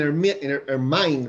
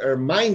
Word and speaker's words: ermine: Hola, hola Laurita, dice Clad in Royal Purple and Ermine, ¿verdad? ¿Cómo se dice esto? Ermine, digo yo, Ermine.